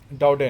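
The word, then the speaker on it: Daudet: ये नाम क्योंकि फ्रेंच है, यानी फ्रांस का है, फ्रांस के किसी रहने वाले का या फ्रेंच ज़ुबान बोलने वाले का, मतलब उस कम्युनिटी का, तो इसलिए इसकी प्रोनाउंसिएशन जो है ऐसी है।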